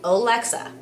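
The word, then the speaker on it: Olexa: it on to me why we pronounce the last name like that my last name is pretty simple o-l-e-x-a alexa of course people have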